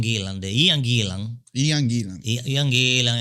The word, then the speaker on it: Ian Gillan: Ianilan es que se pronuncia.